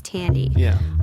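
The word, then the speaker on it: Thandie: podcasts that I've heard many people pronouncing the actress's name as thy Newton and that's why I pronounced it that way but somebody said the other day it's Tandy um so you know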